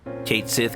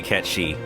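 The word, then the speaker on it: Cait Sith: I see o AKO absolutely akihiko day easy Kate Sith cat shei was your must have character I'm going to say cat shei now that I know that there is an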